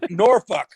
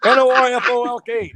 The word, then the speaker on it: Norfolk: at 11 o'clock say that word again yeah norfolk n-o-r-f-o-l-k norfolk england is that how they really pronounce it yeah so i get there at